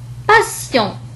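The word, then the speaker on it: passion: إذا نلاحظ أن تي جاء بعدها إي وأو فنطقت كحرف السين. ناسيون. ناسيون. مثال آخر باسيون.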